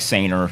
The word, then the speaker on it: Saner: If you pronounce it like Saner, you'll spell it right, because that's what everybody says when they see.